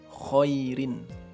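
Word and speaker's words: خير: Contoh khairin. Nah, khairin itu kalau misalkan diwaqafkan bacanya khair, khair.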